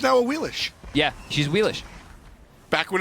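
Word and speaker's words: Awilix: That's why, as we finally have her being played in the SPL, it's now a Wheelish. Yeah, she's Wheelish. Back when it was Cuvo thinking about playing her, it was a Wheelix.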